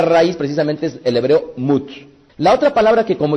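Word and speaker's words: מות: Por lo tanto, tenemos que saber que la palabra muerte en el hebreo es la palabra mut. Repitan conmigo, mut.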